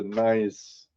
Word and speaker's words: gneiss: Now, where did nice guys come from? Now, I know that's a geological spelling of the nice It primarily came from watching Jeff Williams and he just kept saying nice and then the it